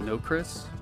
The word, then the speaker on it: Nokris: of works because uh some people pronounce it no chris which i'm it's fine with i don't care but